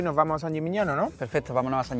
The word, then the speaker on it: San Gimignano: Ya estamos en el famoso San Gimignano. ¿Lo he pronunciado bien? Lo has pronunciado perfectamente.